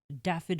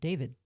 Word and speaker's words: Dafydd: Daffid Horn. I'm going to try once. Daffitorn? Daffid Daffid. Horn. Horn. Yeah. The first name is spelled Dafydd. They go by Daff. Could also possibly even be pronounced David.